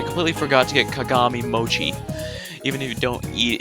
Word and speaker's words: mochi: But I completely forgot to get kagami mochi. Even if you don't eat it, that's important too, right? I was in a rush, okay? Yeah, that's how it's pronounced, right? Mochi with the ch sound.